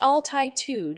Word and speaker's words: altitude: altitude is a noun it's pronounced altitude with a stress on the first syllable meaning altitude refers to